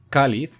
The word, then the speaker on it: cáliz: este ni en vocal por ejemplo la palabra cáliz cáliz la sílaba tónica es acá están en último lugar y como no acaba ni en vocal ni nn ni en ese se le pone tilde a la árbol art bolt la